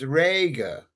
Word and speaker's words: Reger: Pronounced Rega. Rega, as in garden.